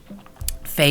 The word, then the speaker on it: Faye: Faye does rhyme with gay.